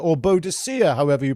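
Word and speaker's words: Boudica: if I'm not mistaken, it's it's uh Bodica or Bodhicia, however you pronounced it on Boda. Yeah. Or Bodhica. it. Yeah, it's up for grabs that one. Says Bodika.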